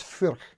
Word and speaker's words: Furch: And I know how to pronounce it, by the way. It's Furch.